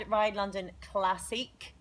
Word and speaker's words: RideLondon Classique: So yeah, we had RideLondon Classique, as it should be pronounced, because they go with a French spelling, bizarrely.